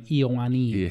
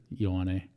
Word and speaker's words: Ioane: Well, they would pronounce my name Iowani. Yeah. Iyo, like... E-Y-O-N-I or something like that. Ioane. And how do you pronounce it? Ioane. Ioane. Yeah. Or because it's E-O-I, like just the I-O is. Yeah, it's just like, yo.